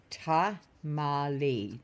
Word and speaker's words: tamale: Tamali. Tamali is the pronunciation L says.